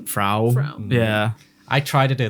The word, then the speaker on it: Frau: FR I just said I'm going by like how they pronounce it in the film which is fra yeah I try to